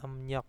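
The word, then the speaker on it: 음력: ya tulisannya em rok tulisannya em rok Nah Tapi bacanya emnyok Ya nah seperti ini dibacanya emnyok Terus kalau yang nyok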